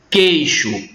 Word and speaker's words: queixo: Queixo. Quando a gente pronuncia a palavra queixo, a primeira coisa que a gente percebe é que esse I, muitas vezes, na oralidade, ele some, ele é suprimido.